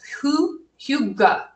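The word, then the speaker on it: hygge: really embracing right now is spelled completely different if you've ever been in an Ikea you might have a little practice with this but it's it's spelled differently than it sounds it's who you go and I never feel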